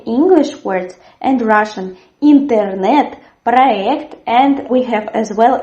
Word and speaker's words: проект: In the word проект, the stress as well falls on the last syllable. There's a firm R, проект. We write soft Y, but we say проект. Of course, you can hear maybe sometimes проект, but it is very rarely.